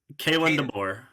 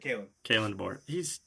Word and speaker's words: Kalen DeBoer: So, how do you pronounce his name? Kalen DeBoer. Yeah, I said it right. Kalen DeBoer.